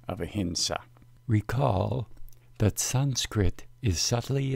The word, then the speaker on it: ahimsa: ahimsa means uh Enzo there is power in the term ahimsa and precise pronunciation permits access to the power when you pronounce the term as a hint saw you were joining the tradition of the great Jane saints who have practiced a